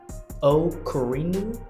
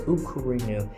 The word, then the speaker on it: Okuri Inu: Today, we're talking about a brand new title called, if I'm pronouncing this right, Okarinu, Ukurinu. As I'm As I'm an American, I pronounce it the best way I possibly could. But, it's Ukurinu.